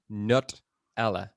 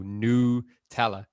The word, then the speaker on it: Nutella: pronunciation by saying that the emphasis should actually be put on the N and the O-U, so Nutella, should actually be the way, which I think is complete horseshit.